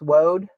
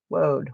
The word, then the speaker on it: woad: I was pronouncing it like I heard Robin pronounce it. Road. So it's woad. I like that word better. Because every time I say wood, I want to giggle. Woad.